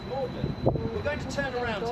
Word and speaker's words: Magdalene: That river is known as the Charwell, spelled Cherwell and pronounced Charwell, as the college is spelt Magdalene but pronounced Magdalene.